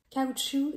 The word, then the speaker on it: caoutchouc: noun that means rubber the first part C it's the a just like in car so then you have UT like double o t and the end of the word is sh Shu just like a shoe the tires made with